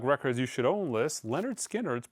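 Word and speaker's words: Lynyrd Skynyrd: 100 imprint analog records you should own list Leonard skinnard pronounced Leonard skinnard absolutely fantastic record sonically as well kind of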